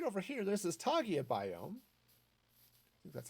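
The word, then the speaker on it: taiga: is awesome so right over here this is togia biome that's how it's pronounced oh i haven't even noticed this little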